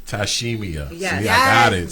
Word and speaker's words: Tyshemia: Tyshemia. Tyshemia. Yes. See, I got it. Give See, me I got all it. 8 letters and Yes. 4 syllables. That's Tyshemia.